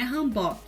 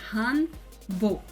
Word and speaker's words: hanbok: O ozinho que é na horizontal é um O fechadinho, tipo O, que nem a vestimenta tradicional coreana, hanbok, não é hanbok, é hanbok.